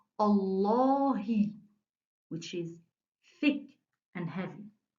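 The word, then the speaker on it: الله: the noun of allah i have to pronounce the name of allah thick and heavy every so here i said allah which is thick and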